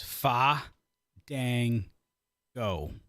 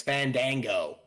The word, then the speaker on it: Fandango: off at the airport you mispronouncing it is far gang go oh uh I'm from Maine it's Fandango that Dango guy that